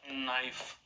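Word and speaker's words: knife: आप क्या लिखते हो के एन आई एफ ई और इसको बोलते क्या हो नाइफ क्या बोलते हो नाइफ नाइफ तो एन आई एफ ही हो गया एन आई एफ ई ही हो गया के क्या हो गया तो आप तुरंत कह दोगे सर के क्या है साइलेंट है के क्या है यहां पर साइलेंट ेंट है लेकिन हिंदी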